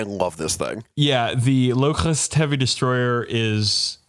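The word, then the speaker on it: Lokhust: Locust. There is a copyrightable H in there, and you got to pronounce it like the H in Terra.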